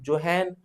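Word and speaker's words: Johann: से कह रहा हूं जोहन विलहेम हिटरफ इसलिए पढ़ा जा रहा है इसलिए लिखा जाता है क्योंकि ये जर्मन नेम है भाई but when we pronounced it in American English और ब्रिटिश इंग्लिश तो आप जॉन विलियम हिट पढ़ेंगे काम चल जाएगा आपने कहा ठीक है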